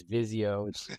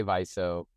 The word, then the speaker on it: Viso: viso U vizo uh we don't like to hear is Vio definitely not Vio the other ones are kind of permissible and and of course as we like to say paying customers can pronounce it however they like right um in any case um yeah we say viso and viso is a